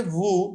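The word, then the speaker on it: vous: তো এই যে ভু, নু, এগুলোর পর যে এসটা আছে, এটা কিন্তু এসটা উচ্চারণ হচ্ছে না, দেখেন ভু।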